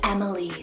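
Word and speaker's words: Emmeline: the mind and until select then we have Emily's it's spelled e-m-e-l-i-n -em Emily's I know a ton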